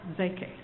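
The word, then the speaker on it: Szekely: Now, you spell his name S-Z-E-K-E-L-Y, but it's pronounced Zeke.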